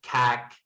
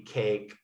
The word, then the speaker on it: cake: long vowel so like instead of cac it would be cake instead of fak it's